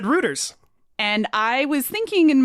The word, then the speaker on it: Reuters: I said Reuters. And I was thinking in my brain that it was Reuters.